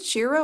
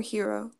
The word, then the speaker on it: Hiro: With how heroes is it Shiro or Hero? Hero.